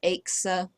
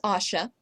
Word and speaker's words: Asha: Axa, Axa, I don't know what else they'd come up with, but it is Asha.